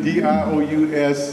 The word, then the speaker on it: Dious: My name is Dious, spelled my last name D-I-O-U-S. I tell a lot of people you can pronounce it as Pius Dious.